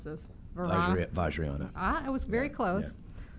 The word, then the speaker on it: Vajrayana: I'm going to let you pronounce this. Vajrayana.